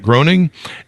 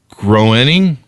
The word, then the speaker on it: Groening: favorites, of course, Matt Groening, and am I pronouncing that right, Matt Groening? I think he once said it rhymes with complaining. So complaining? Yeah. Groening?